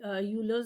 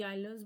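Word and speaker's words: Euler's: ठीक है, तो इसकी प्रोनाउंसिएशन देखिए अलग अलग होती है, कोई यूलर्स बोल देता है, कोई आइलर्स बोल देता है।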